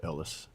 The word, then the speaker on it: Elias: Who believes nearby villagers are harboring Viet Cong soldiers and Sergeant Elias? Yeah. William Defoe. Ellis. Oh, Ellis. Yeah, it said it. It's spelled Elias, but it said Ellis.